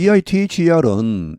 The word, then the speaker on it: either: 여기 EITHER은 either 혹은 either로 발음합니다. 대체로 한 7대3 정도로 either로 많이 발음하는 것 같습니다. 그리고 또 대체로 영국 사람들이 either라고 많이 하는 것 같습니다.